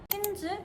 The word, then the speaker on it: Tintz: This is next Tins라는 뜻이고요. T는 묵음입니다. 틴즈 결성 계기가 궁금합니다.